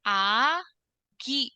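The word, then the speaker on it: 아기: Yang pertama itu ada kata agi. Berarti dibacanya agi gitu.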